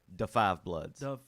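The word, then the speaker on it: Da 5 Bloods: You got to put Da and Five together. Da Five. Da Five Oh, Bloods. Da Five Bloods. Yeah. Okay. I don't want to. That's how you say it. I don't want to say it wrong.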